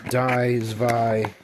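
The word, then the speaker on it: zwei: Uh and then if you don't know uh dvi and dry are 1 2 3 in German. So that's where they threw dino or dino zus which the w is pronounced as a v in German pronunciation and then hydragon.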